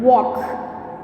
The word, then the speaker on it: walk: First one, walk. See, walk. See, in this word, L is silent letter.